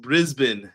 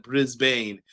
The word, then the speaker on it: Brisbane: It's pronounced Brisbane, not Brisbane.